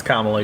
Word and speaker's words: Kamala: I'm not trying to be disrespectful no it's KLA you're good okay sorry um but I think